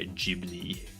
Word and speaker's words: Ghibli: Ghibli sounds, or Ghibli sounds cooler, but yeah, Ghibli is more accepted version because Japanese pronunciation of the Italian word, yeah.